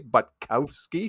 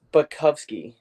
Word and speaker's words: Butkowski: your last name correctly butkowski very close everyone pronounces it like that but it's butkovsky very close you were